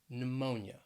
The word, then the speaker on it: pneumonia: at a couple of words that begin with a silent p and both of these words have three syllables so the first one is pneumonia pneumonia that stress is on that second syllable pneumonia then we have pseudonym